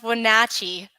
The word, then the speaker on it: Wenatchee: Itachi Washington nice try it that sounds right pronounce Wenatchee yeah that's right I'll I'll blow it at